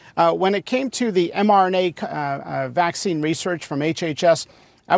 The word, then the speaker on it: mRNA: Steve says you said MNRA, which is not how you say it, but mRNA is evil.